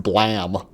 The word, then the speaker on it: Blame!: okay so who cares it's pronounced blam that's an awesome take